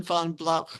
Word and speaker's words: von Blauch: You pronounced it correct, and with that German diphthong, it comes from the word blau, blue, which is the word for blue, blau, and ja, jawohl, genau.